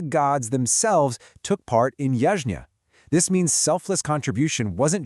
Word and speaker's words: Yajña: Now, Yajña, pronounced Yajña, it actually started as a literal fire ceremony where the community would make offerings together.